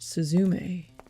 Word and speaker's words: Suzume: In the ancient tongue, it would have been pronounced Suzume.